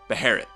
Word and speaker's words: Beherit: But alas, the correct English transliteration is this, and it's pronounced, as you guessed, Beherit.